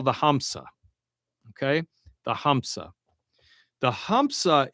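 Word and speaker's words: همزة: The hamsa is a glottle stop.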